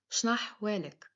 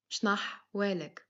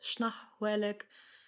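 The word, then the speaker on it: شنحوالك: Shnahwalek. One more time. Shnahwalek. As well, if you cannot pronounce the ha letter, it's no worries. You can say this Shnahwalek.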